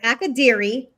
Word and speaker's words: Akadiri: So Akadiri, the I's are always going to sound like E's. So, and the A's are always going to have an A sound.